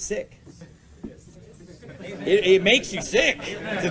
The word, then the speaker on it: Sikh: and that it's Sikh it's actually sick in Punjabi that's the actual real pronunciation believe it or not because a lot of people call it Sikh but it's sick it makes you sick